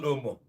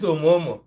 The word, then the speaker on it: Omo: And this auntie doesn't know how to call Omo, but she calls it Omomo.